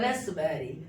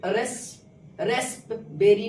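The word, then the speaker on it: raspberry: का वर्ड अब यहां देखिए पी साइलेंट है रेसबेरी रेसबेरी इ नहीं कि रेस रेस बेरी नहीं होगा राइट प्रोनंसिएशन क्या होगा रसबेरी क्या पढ़ेंगे कोफ कोफ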